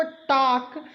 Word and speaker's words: talk: अगर LK को देखें तो हम लोग लिखते हैं TALK, लेकिन इसका जो साउंड प्रोड्यूस करते हैं, यानी वर्ड को हम लोग पढ़ते हैं इसको टाक, यानी TAK को ही पढ़ते हैं, L को हम लोग साइलेंट करते हैं।